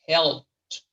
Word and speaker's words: helped: La E no se pronuncia acá. Es helped.